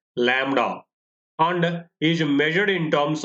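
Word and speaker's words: λ: So this symbol is pronounced as lambda and is measured in terms of centimeters, millimeters, angstroms, micrometers, nanometers.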